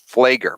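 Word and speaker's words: Pfleger: name is Reverend Michael flager but it's it's spelled p p excuse me PF l g r PF the the p is silent so there's this H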